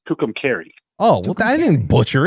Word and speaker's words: Tucumcari: You called it Tucumcari. Yeah. And it's Tucumcari.